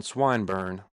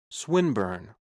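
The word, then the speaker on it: Swinburne: "This man, Swineburn," he began, attempting to put his plan into execution, and pronouncing the I long. "Who, Swineburn?" he repeated with the same misprononunciation. The poet Swinburn, she corrected.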